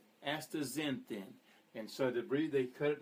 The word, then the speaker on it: astaxanthin: I've been trying to practice this, but I believe you say it astaxanthin. Astaxanthin. And so they cut it down to astaxanthin, Z-E-N-thin.